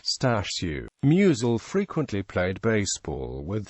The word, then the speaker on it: Stashu: referred to muel using the Polish nickname Stu pronounced stashu muel frequently played baseball